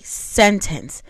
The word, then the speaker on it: sentence: So in the word sentence, the first syllable is stressed. So it's sentence.